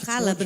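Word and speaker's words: حلب: Halab, né, como se fala. Halab.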